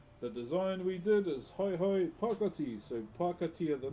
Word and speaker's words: hae: As you can see, the design we did is hai pakati.